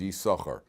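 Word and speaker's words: יששכר: their two shins so there's a silent Shin over here why why is there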